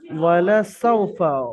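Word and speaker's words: وَلَسَوْفَ: ওয়ালা সাউফা, ওয়াও জাবার লাম জাবার, হারাকাত তাড়াতাড়ি পড়বেন, টান দেওয়া নিষেধ। সাউফা হারাকাত আছে, কিন্তু এখানে ওয়াও সাকিন ডান দিকে, সিনের উপরে জাবার, ওয়াও লিন নরম আওয়াজে তাড়াতাড়ি পড়তে হবে, টান দেওয়া নিষেধ।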